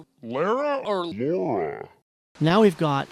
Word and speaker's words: Lara: line, some prick is like, "No, it's Lara." All right. Well, I'm con man. Goddamn American. Wait, wait, wait, wait, wait. We know it's not pronounced Laura.